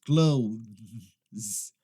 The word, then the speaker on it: clothes: O que acontece é que eles acabam pronunciando como se fosse o verbo fechar. Close.